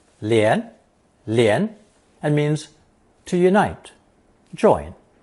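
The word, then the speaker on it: 联: It's pronounced 连 and means to unite, join, make an alliance with.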